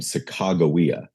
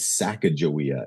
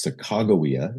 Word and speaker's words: Sacagawea: Most most famously is a teenage Native American nursing mother named Sacagawea. We we we learned her name as Sacajawea in high school.